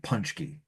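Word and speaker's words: pączki: Punchkkey. So, locally, all of the old Polish grandmothers around here pronounce it punchky.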